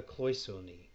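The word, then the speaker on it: cloisonné: technique in this design is called that a cloisonne so c-l-o-i-s-o with a accent on the the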